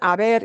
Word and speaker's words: haber: fit this in foreign h-a-b-e-r they're pronounced exactly the same but they are two totally different terms and even this word Aber in and of itself